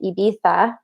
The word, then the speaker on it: Ibiza: the island in Spain everyone pronounces it with a Spanish accent and they say like Ibiza because the Spaniard Spanish has a lisp, but in fact most